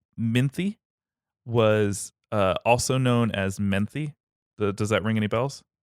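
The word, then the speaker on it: Minthe: Wait, did you say the same name twice? Minthy or Menthy? Where's the difference? There's an irony, girl. An irony, yeah. But does Menthy ring any bells? No. Just think about how it's spelled. M-E. Menthol.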